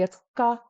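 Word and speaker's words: ཀ: So it writes this letter as Ka, when in reality it's ka, ka. It's this very soft sound. It's much closer to a G, but in reality, it is a non-aspirated K.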